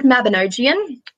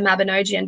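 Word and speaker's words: Mabinogion: The word Mabinogian, I've heard it pronounced Mabinogi, Mabinogia, Mabinogian, Mabingian. I've heard it pronounced so many different types of ways. And still, the one that I use is the Mabinogian because I typed it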